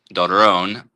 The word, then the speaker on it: Doron: Um, is it Doran or Doron? How do you say your name correctly? Either way, uh, it's it's Don in Hebrew. Duron. And then it's just Doran or, you know, however.